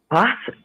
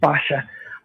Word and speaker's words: Basia: And I hate to say it, but um Bosa uh and I can't pronounce her name right. Bosa. Basa. Basha. What's the correct Bosa? The correct Polish is Basha.